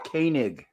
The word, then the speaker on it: Koenig: just so you guys know, he pronounced it Koenig. Koenig, okay. Like the German coffee, Koenig.